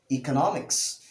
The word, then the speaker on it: economics: of the word is economics economics economics with the long e sound the sound the archer